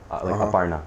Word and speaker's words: Aparna: Her name is Aparna, okay? Aparna. That's how you pronounce it.